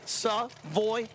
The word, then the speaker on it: Seavoya: Three syllables. Savoya.